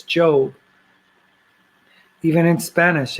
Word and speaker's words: Job: or job you know the book of Job is not job it's joe even in Spanish it's